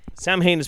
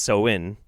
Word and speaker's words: Samhain: give it to you phonetically samhain is sam sam haynes pronounced so in and the greeting is